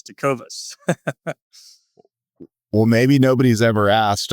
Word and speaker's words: Tecovas: guess what people do people call it takova that's really annoying it's always got an S it's Tas well maybe nobody's ever